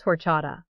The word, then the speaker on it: horchata: How do you pronounce horchata? Answer. Horchata. The H is totally silent.